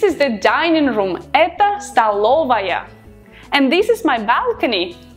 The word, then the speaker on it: столовая: We write столовая, but we pronounce столовая.